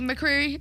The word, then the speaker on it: McCreery: Anyone familiar with Scotty Creary out there? Scotty McCreery? Oops, I said his name wrong.